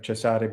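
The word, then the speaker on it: Cesare: yeah so the so the Italians they would pronounce that name now chasade right like chesare borja Cesar Borger so you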